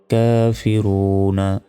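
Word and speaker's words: الْكَافِرُونَ: পেশু নুন জবর না কাফিরুনা থামলে এখানে তিন সেকেন্ড টান হবে কাফিরুন কুল ইয়া আইয়ুহাল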